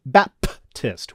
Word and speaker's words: Baptist: it john the baptist it's baptist with a peep not a bee because they say on